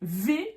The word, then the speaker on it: W: V pour le V et V pour le W. Donc attention ici, c'est V, d'accord?